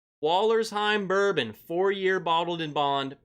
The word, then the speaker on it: Wollersheim: Number 1, Wallersheim Bourbon, 4-year bottled in bond, Prairie du Sac, Wisconsin. That's exactly how you say it. Wallersheim.